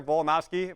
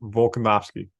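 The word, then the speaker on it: Volkanovski: Moreno versus Alexander pantoya I've said his name a million times I know I said it wrong there it's Alexander volcanovsky when you're a sportscaster you could be saying names from all around the world you gotta say it right Volk is the linear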